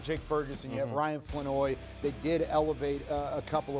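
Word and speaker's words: Flournoy: I tell you what, Flanoy, is I'm pronouncing that right?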